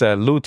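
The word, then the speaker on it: لوط: And his name is pronounced lut in Arabic and lot in Hebrew.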